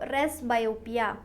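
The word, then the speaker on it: presbyopia: word use करते हैं आप रेस बायोपिया ठीक है पी साइलेंट होता है इसमें रेस बायोपिया इसको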